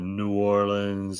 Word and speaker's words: New Orleans: That's a lot more limited to the New Orleans and the Metairie parades and stuff like that.